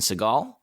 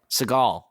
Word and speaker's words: Segel: Just to be clear, I'm pretty sure it's Jason Segel. Seagal. It's Segel. He's not a goddamn bird, Simon.